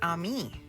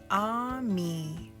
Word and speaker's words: ami: say friend in French the word is Ami my mom says you say it like this ah me I love French everything